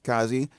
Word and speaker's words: Kazii: It's Kazii.